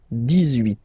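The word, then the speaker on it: dix-huit: So you will make this little link between the two, the liaison. 18, 18, 18.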